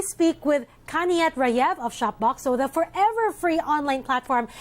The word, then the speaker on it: Shopboxo: Michelle thanks for having me okay did I pronounce is that right shop box so and and why the name yeah that's correct